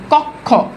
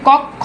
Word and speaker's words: কক্ষ: ক্ষীয় যদি থাকে তাহলে উচ্চারণে বসে ক খ। দেখেন কক্ষ, দেখেন এই যে কক্ষ, দেখেন উচ্চারণে কি আসছে? ক খ। এই যে কক্ষ, ক খ আসছে। তাহলে দেখেন তো উচ্চারণে কি আছে ভাইয়া, ভালো করে বুঝেন।